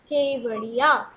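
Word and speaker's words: Kevadia: इ नॉट कावेरिया डट के ई के वी ए व डी आई एडिया केवड़िया दिस इ द नेम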